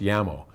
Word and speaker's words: Jamo: is I I think they're properly pronounced llamo but I think a